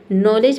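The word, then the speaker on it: knowledge: तो डी के बाद अगर जी ई दिखे तो वहाँ पे डी लेटर क्या रहता है, साइलेंट रहता है। ठीक है, यानी कि डी को हम नहीं पढ़ते हैं।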